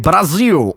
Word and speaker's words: Brasil: If a syllable ends in L, it becomes a W, like in Brasil or Michael.